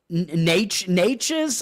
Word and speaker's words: Nečas: Natchez, I think is actually how I pronounce it. I think there's there's an accent on the C there. I think he's Eastern European.